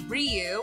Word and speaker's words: Ryu: main character which is Ryu which I found out when working with you that that is how you pronounce it Street Fighter so we